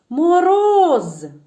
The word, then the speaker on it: Мороз: давайте слово Мороз покличемо Мороз Який склад у слові Мороз наголошений роз і ще раз Мороз так